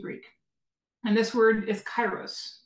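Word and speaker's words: kairos: time in ancient Greek and this word is chyros it's spelled k a i r oos and what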